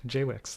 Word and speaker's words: JWICS: Jay Wix, that's how they pronounce it.